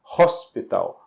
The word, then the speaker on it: hospital: olha só a palavra hospital hospital Então esse H É pronunciado então a gente vai